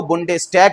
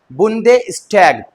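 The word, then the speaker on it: Bundestag: जी हाँ, बुंडेस्टैग कहते हैं जर्मनी भाषा में। डी की प्रोनाउंसिएशन डी रहती है और अगर हम हिंदी में बोलेंगे तो इसको बुंडेस्टैग कहेंगे।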